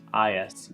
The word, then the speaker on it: Eyas: I think it's pronounced Eyas, E-Y-A-S.